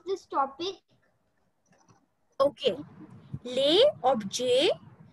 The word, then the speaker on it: objet: Okay, le objet. So we will not call it object. Objet, le objet de la class.